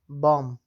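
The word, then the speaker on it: bomb: بام، بم ته وایي چې د بم نشو موږ ویلی ځکه چې دا د ام څخه وروسته د کلمو په وروستیو کې راغلې ده.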